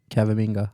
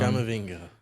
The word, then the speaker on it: Camavinga: Yep, And Cavaminga. that's the one. Camavinga.